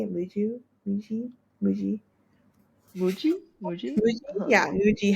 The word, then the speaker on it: Muji: I think Muju, is that how you say it? Muju? Muji? Muji? Muji, Muji.